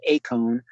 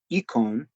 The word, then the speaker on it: eikon: And if you use, depending on what pronunciation scheme you're using for Greek, you may have the Erasmian, which is eikon. You may have a modern, which is ikon.